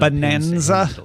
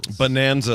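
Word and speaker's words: Bananza: Sounds very painful sitting on Bonanza. Bonanza, like a banana, Tom, but spelled like, you know, sort of.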